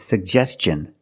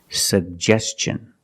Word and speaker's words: suggestion: suggestion that's right it's suggestion because the T N is after an S make the hard CH sound like chicken suggestion let's look at the